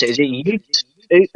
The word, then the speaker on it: Uth: I know it's spelled UTH, but I don't know how to pronounce it. Oot. Is it Ute?